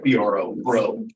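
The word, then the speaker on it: Breault: Last name is BREAULC, pronounced BRO, bro.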